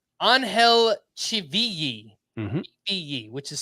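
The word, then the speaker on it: Ángel: soreness it was let me get this right anhel Chi which is spelled c hi v i l i if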